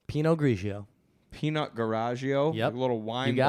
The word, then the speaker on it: Pinot Grigio: language so was it Pinot or is it peanut garagio Pinot Grigio peanut garagio a little wine bottles if you